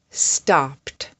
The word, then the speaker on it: stopped: Stopped, popped, flopped, chopped. The sound at the end of these words is pt, pt, pt, pt.